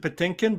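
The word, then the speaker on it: Patinkin: george shura himself mandy pattenkin that is correct uh raku uh okay i pronounce it potinkin but that's fine but take him potato let's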